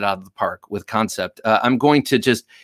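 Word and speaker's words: Kansept: week concept or i'm i'm so tempted to say cancept because of how it's spelled but i'm pretty sure it's concept concept knives which is a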